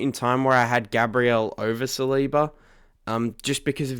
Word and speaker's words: Gabriel: And at number 2 is Gabriel That is exactly how you pronounce his name.